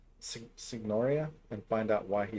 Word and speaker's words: Signoria: It sounded like they had a hard G. Signoria, and find out why he has been imprisoned.